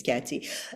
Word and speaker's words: Katsy: It's not Katie, it's Katsy."